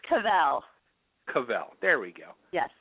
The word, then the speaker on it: Cauvel: It's Cauvel.